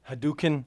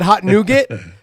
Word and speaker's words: hadouken: it's supposed to be how do you say it hadouken hadouken right or they do the uppercut punch but I said hot nougat so we made a